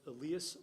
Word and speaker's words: Elias: It's pronounced Elias Wolford.